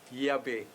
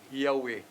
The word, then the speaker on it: Yahweh: Kanang eye as eye asker, eye, ang third person ana, upat ra ka letra, JHBH. Mo na ma-pronounce na siya Yahweh. Yahweh.